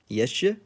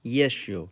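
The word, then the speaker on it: ещё: How do you think it's pronounced? Yeshe? Nope. Try yesho.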